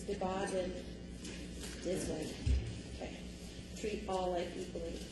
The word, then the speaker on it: Dbaadendizwin: I had 2 different pronunciations, and I'm going to, or not pronunciations, but native language, and I'm going with Kenny's. He says, Dbaadendizwin.